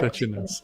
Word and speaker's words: Crăciunas: Is that how you pronounce it? Yes, correct. Crăciunas, okay.